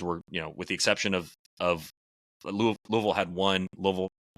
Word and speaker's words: Louisville: and I was like, "It is not Louisville." I mean, it's like Louisville.